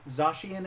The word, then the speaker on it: Zacian: It's pronounced Zacian and Zamazenta.